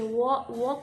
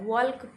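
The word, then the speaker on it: walk: L silent होता है डब्ल्यू ए एल के वॉक होता है ठीक है लेकिन उसमें एल साइलेंट होता है वॉल्क वॉल्क बहुत लोग व्क पढ़ते हैं तो वो सही नहीं है वो गलत है वॉक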